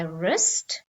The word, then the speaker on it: wrist: w or so the first one is my wrist wrong i got the answer wrong wreck this